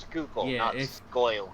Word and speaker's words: Schuylkill: if you're really that Schuylkill is pronounced scoop scale if they're really in